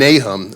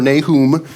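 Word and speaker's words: Nahum: this week we're doin a hum and a hum or nay whom depending on how you pronounce it it's an interesting book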